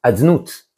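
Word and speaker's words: יהוה: écrit le nom havya mais on ne le prononce pas tel qu'il est écrit on a dit ça personne ne le dit c'est réservé au bamikdash on dit adnout à la place donc on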